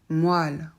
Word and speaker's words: moelle: va les voir ensemble autres exemples de e prononcé comme la lettre A moelle poil ces mots-là je suis désolée ce sont des exceptions c'est-à-dire qu'en principe o et E en français ne font pas a mais euh dans ce